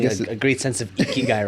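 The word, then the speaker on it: 生きがい: Ikigai, yeah.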